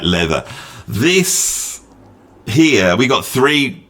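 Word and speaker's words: Läther: I know it's looks like it's pronounced lava, but it's got them two dots over it, which I think makes it sound like leather.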